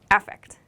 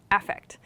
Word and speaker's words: affect: don't say effect here the emphasis changes with this noun form we say affect affect so when you're writing